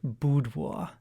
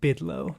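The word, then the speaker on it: Bydło: pictures at an exhibition that is the polish pronunciation boudoir but uh uh maybe more of our listeners would be familiar if i said bidlow b-y-d-l i've always heard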